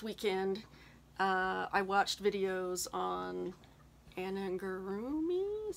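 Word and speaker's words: amigurumi: So this last weekend, I watched videos on Anangurumi, is how you say it, and taught myself how to make some these parts to go on here.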